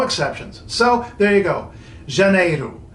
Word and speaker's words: Janeiro: O's so you got that the J is pronounced shut in Portuguese J is always young no exceptions so there you go Junaid oh it's not too hard D evenly isn't